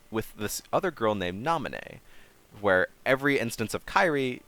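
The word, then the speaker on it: Naminé: instead of kind of yellowy yellow yellowish hair nominee yes that is how it's pronounced so wait she has blonde instead of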